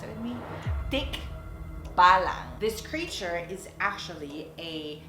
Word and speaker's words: tikbalang: mythical creature in the philippines that we call tick balance can you pronounce it with me thick bala this creature is actually a kind of like